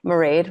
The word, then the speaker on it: Mairead: Mairead rhymes with parade.